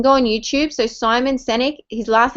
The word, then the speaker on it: Sinek: so you can go on youtube so simon senick his last name is spelt s-i-n-e-k so it's a youtube clip um